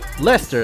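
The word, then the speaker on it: Leicester: gonna be simming that against la chester lychester what is it lester lester is how you pronounce it and then we got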